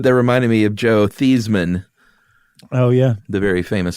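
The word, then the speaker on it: Theismann: reminded me of Joe theseman oh yeah the very famous story of quarterback Joe theseman who changed his spelling or his pronunciation to Theisman to run with Heisman right which I think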